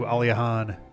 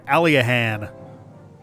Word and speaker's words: Aliahan: We are kind of wandering around with the Thief's Key a little bit before heading back to Aliahan. Sorry, Aliahan, based off of how they pronounced it.